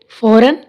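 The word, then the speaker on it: foreign: फॉरन, अब एन से पहले क्या आ रहा है? जी, तो जी इसमें साइलेंट है।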